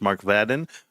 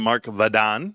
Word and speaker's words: Vadon: If you guys are not familiar, it's Mark Vaden and they pronounce him Mark Vadon as I was told.